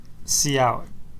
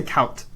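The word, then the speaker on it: cout: when I write c-o-u-t how do you say that see out okay that's what I say it as well but some people say count those people I know people who say cow I don't want to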